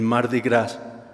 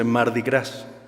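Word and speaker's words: Mardi Gras: gras en Nuevo Orleans así se le conoce m grass pero está mal pronunciado es son dos de hecho dos palabras en francés m que quiere decir martes de grasa o martes de Eh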